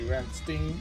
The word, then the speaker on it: Rammstein: When I took German, like the E is before the I, so which comes first gets pronounced. So it should be Ramstein according to that rule.